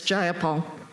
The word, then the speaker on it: Jayapal: If you're going to say my name, please Jayapal? say it right. It's Jayapal.